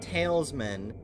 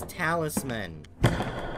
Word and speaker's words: talisman: catch you later it's not talesmen it's Talisman dumb